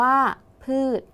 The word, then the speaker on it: พืช: อีก ครั้ง นะ คะ พืช อ่าน ว่า พืช นัก เรียน สังเกต พืช นะ คะ ช ช้าง เป็น ตัว สะกด ออก เสียง พยัญชนะ ท้าย เหมือน ด เด็ก ดัง นั้น คำ ว่า